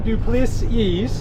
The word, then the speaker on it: du Plessis: All right, today we're out with Damien du Plessis.